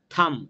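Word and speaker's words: thumb: থাম, এখানে বি উচ্চারণ হয় না।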